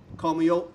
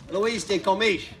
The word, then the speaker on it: Luís de Camões: Luís de Camões. Well, I'm going to say it right because I practice. Camões. Camões. I practice a lot in my office. Camões. Luís de Camões.